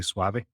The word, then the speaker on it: Suave: me pronouncing it as Suave, because it's like I'm swallowing the E. The Spanish would just say Suave.